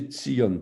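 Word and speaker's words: צִיּוֹן: Quand on dit Sion en français, en fait, il faut prononcer Tzion, T-S.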